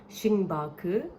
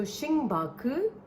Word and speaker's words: Xingbake: Instead, they used Chinese characters, but it was the phonetical pronunciation of Starbucks. It was Xing. Xing means star, so that was a translated version of star into the Mandarin language. And then Baku. Baku is the phonetic pronunciation of bucks.